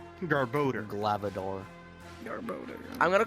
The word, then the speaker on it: Garbodor: real life also also it's not pronounced or it's pronounced garbodor galvador i'm gonna call